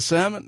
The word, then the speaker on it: salmon: I said salmon right salmon because yeah salmon because it's got an L there but you know when you pronounce it in English it's like salmon. Where did the L go?